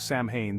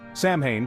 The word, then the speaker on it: Samhain: the coming of winter Sam Hayne pronounced sawin was the most important